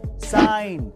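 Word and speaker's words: sign: Number three, अगर किसी word में एन से पहले जी आए तो उसमें जी साइलेंट रहता है, जैसे कि डिजाइन, साइन।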